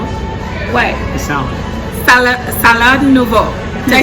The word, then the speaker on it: nouveau: Salad nouveau.